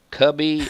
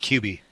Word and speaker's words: Cubey: I've heard it pronounced Cubby and Cubey and. Yeah, I'm not a fan of Cubby. It's pronounced Cubey.